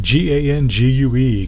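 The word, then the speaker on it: gangue: waste rock from mine g-a-n-g-u-e ganje you know the great English language it's pronounced gang and so look at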